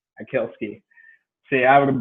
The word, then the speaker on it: Atkielski: try you want to say it for me ed kielski akilski see i would have butchered it so i'm glad you're not the